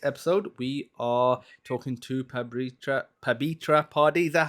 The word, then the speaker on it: Pabitra Padhy: Hello, welcome to FireDEV, and on this episode we are talking to Pabitra Padhy. Is that how am I pronouncing it correctly?